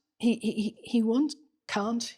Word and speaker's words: Kant: And then so Kant he he he he want K can't K can't K can't K can't K can't K can't yeah K can't you're right you've got the right pronunciation Kant wants to um